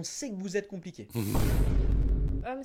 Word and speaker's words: homme: que vous êtes compliqué homme ça s'écrit avec un H mais qui ne se prononce même pas dès le début on